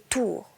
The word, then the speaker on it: Tur: Tur, prononcé tour, tour et sourd, même mot, n'est-ce pas?